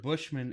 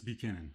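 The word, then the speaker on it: Buchanan's: I said it's res Bushman is a scotch whiskey okay buan it's Buchanon oh I can barely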